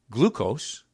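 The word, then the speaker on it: gleukos: Glucose, which is pronounced, glucose, G-L-E-U-K-O-S, glucose.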